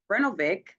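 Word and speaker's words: Brnovich: Another recent case that I want to highlight is Brenovic v.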